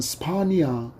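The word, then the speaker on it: Σπανία: 헬라어로는 스파니아. 발음을 들어보면 비슷한 영어 국명의 나라가 하나 떠오르지 않습니까? 스파니아, 바로 스페인입니다.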